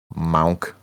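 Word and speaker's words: Munck: you remember noah monk a monk yes that's how he's pronounced the last name monk monk whatever your name is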